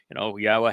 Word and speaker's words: Yahweh: and hashtag YadaYahowah, hashtag even Yahweh, which is the proper pronunciation that I introduced of Yahweh's name, to disparage me, everyone